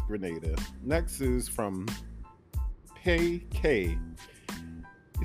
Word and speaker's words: Grenada: A lot of people in my comment section tried to explain to me that Grenada, the way I was pronouncing it, Granada, that is a place in Spain, they were saying, I believe. So I probably mispronounced it, but thanks to the comments, they let me know that it's Grenada.